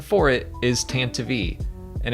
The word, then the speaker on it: Tantive: But the official pronunciation for it is Tantive, and it's only because of like the radio drama, I think.